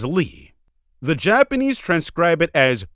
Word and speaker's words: Leigh: Also, quote, that's the definitive proof they wanted to use Gillian Leigh Anderson's actual name, as Leigh is pronounced exactly as Lee.